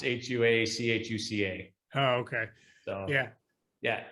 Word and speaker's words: Huachuca: It's not spelled at all like that, is it? No, it's with an H. The spelling's really off. It's Huachuca.